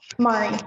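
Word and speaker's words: Mairi: it in the right is your name Mari Mari yes and how's it spelled it's spelled a little bit different how does it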